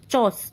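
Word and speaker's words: chores: थोड़ा सा ऐसा है, इसमें आर जो है वो ऑलमोस्ट साइलेंट होता है। चॉस, चॉस बोलते हैं।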